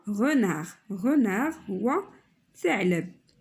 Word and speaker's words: renard: D ça ne prononce pas حينتاش هي lettre muette. غاديش نقراو دي، نقولو هنا renard.